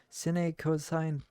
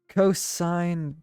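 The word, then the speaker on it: cosine: uh squeaking screeching piercing sin coign I know it's sign I pronounced it sin because you know I like pronouncing things phonetically sometimes cosign tangent like playing a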